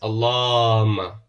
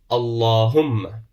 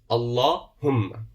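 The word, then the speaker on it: اللهم: We're not putting a shadda on it. We're overstretching the long vowel. Sometimes we're not pronouncing the Lam of Allah with the full mouth. So remember, it is Allahumma. Allahumma.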